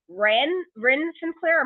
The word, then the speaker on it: Ren Sinclair: But let's now move on to the first ladies action of the night, which was Lash Legend versus Ren Sinclair. I hope I'm pronouncing that right.